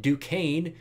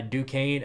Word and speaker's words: Duquesne: that week one but after that you get Duquesne and well I remembered how to pronounce that thankfully but yeah Duquesne after uh the Penn State game a good